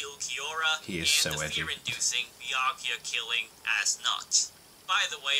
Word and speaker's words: Nödt: and the fear-inducing Byakuya-killing Nödt. By the way, I'm trying to pronounce it as Nödt, not Nödt, but you really can't unhear it either way, so yeah.